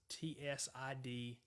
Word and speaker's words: Tsidkenu: I'll spell it for you one more time. It is Jehovah Tsidkenu, and that's Tsidkenu.